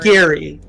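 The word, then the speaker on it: Gari: Gary, the dread lich. Uh, G A R I, pronounced Gary.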